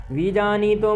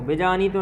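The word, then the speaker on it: विजानीतो: में का उच्चारण करें विजनी तो में ई जो है दीर्घ है तो विजनी तो बजानी तो नहीं करना विजान तो बजानी तो ऐसा करना है नायम हंति न हनते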